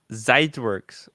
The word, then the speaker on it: Zeitwerk: There's no W in German, Tim. It's like BMW is pronounced BMW. BMW. Zeitwerk with a V, kind of pronounced like with a V.